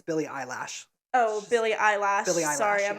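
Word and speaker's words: Billie Eilish: I developed a huge Billy eyelish Obsession like okay valid unhealthy but you did pronounce her name wrong it's Billy eyelash Oh Billy eyelash sorry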